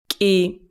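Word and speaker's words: კი: the world for yes key it starts with the same letter that is something between a K and a G repeat it a few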